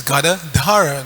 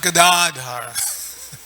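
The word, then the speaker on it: gadā: the plow and there's gadaar the holder of the Gada the club it's not Gar so we should always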